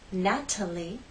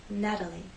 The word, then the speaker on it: Natalie: Again, Americans will not say Natalie, they will say Natalie. The T having very quick, light contact.